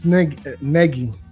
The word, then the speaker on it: Nagy: It's negi. Negi like Peggy.